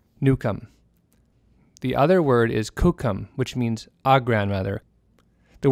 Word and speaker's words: kókum: So to recap, those four words are Nukomis for my uncle, Nusissum is my grandchild, Nukum is my grandmother, and Kukum is grandmother.